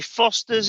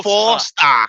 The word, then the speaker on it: Forster: Johnny Foster's in as well. Hey up, Johnny. Yeah, you said it wrong, mate. Johnny Foster. Johnny Forster. Forster.